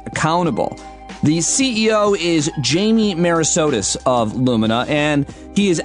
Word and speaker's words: Merisotis: Work in the Age of Smart Machines, Jamie Merisotis.